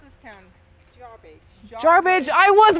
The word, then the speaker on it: Jarbidge: How do you pronounce this town? Jarbage.